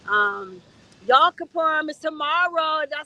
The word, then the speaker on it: Yom Kippur: Um, Yom Kippur is tomorrow.